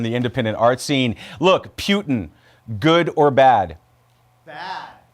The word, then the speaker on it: Putin: Look, Putin, good or bad? Bad. It rhymes with Rasputin, doesn't it? Bad.